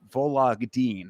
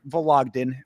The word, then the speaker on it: Vologdin: but this is Adrian Luna Martinetti versus Mark Vologdin is how you pronounce it. Vologdin, but Vologdin from Russia there.